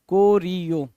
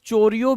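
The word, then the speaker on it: choreographer: यही चीज समझनी है कुछ लोग इसको चोरियो भी पढ़ते हैं तो चोरियो पढ़ो कोरियो पढ़ो समझ आना चाहिए जी राइट ऐसा कुछ नहीं है कि आप कुछ भी पढ़ोगे है है ना?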